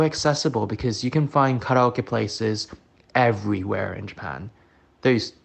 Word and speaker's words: karaoke: most joy growing up there was karoke or karaoke as you would say in the west but I'm going to call it by its proper pronunciation karoke.